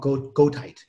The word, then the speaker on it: goethite: So it's called goethite. How do you spell that? Like Goethe, the writer, but goethite because it's a mineral.